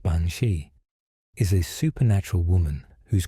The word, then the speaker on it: Bean-Sidhe: The Bina, pronounced bansi, is a supernatural woman whose cry warns certain Irish families of an approaching death.